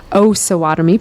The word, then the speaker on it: Osawatomie: So now we know how to say it correctly going forward is Osawatomie Pound.